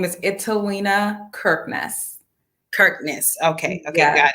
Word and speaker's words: Italina Kirknis: your last name first and foremost will you pronounce my first name perfectly my name is italiena kirkness kirkness okay okay i got it awesome um